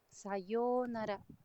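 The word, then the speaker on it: さようなら: Digamos, pues una que todo el mundo conoce, sayonara, sayonara tiene doble o y se alarga con una u.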